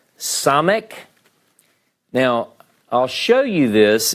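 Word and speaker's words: ס: cuff all right so now the Hebrew letter some ik now I'll show you this as we work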